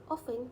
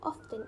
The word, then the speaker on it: often: For example, many German learners pronounce the word often with the T sound, so they would pronounce it as often instead of often.